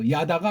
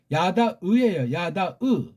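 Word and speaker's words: יָדַע: 야다가 아니고 요거 발음을 해야죠. 반론 있으니까 야다으예요. 야다가 아니에요.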